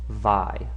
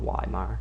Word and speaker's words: Weimar: And those of you who take German, you know that those W's are pronounced like V's, so it is Vi, not Weimar.